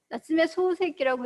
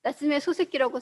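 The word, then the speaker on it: 夏目漱石: 근데 이 사람이 앞서 보면 뒤에 써놓은 것처럼 사실은 소자에다가 발음을 길게 넣어줘야 돼요. 나츠메 소세키라고 해줘야 됩니다.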